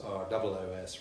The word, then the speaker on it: Ros: Well, I'm going to talk about a medieval baron called Robert de Roos, spelt R-O-S but pronounced as though it was R-O-O-S, Roos.